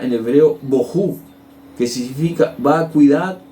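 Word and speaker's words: בֹהוּ: de strong 922 que significa la palabra se pronuncia en hebreo boho que significa va a cuidar o ruina entonces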